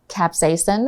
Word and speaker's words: capsaicin: 所以中文呢，这个 capsaicin maybe if you put the accent on the sas, so capsaicin or capsaicin, OK, 所以它是辣椒素的意思，所以其实会辣的那个感觉，主要是来自于化学的辣椒素引起的。So what is it?